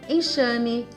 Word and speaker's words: enxame: nas palavras primeira dica usamos a letra x com som de ch após ditongos ameixa peixe caixa e após a sílaba em enxame enxurrada enxugar atenção caso a palavra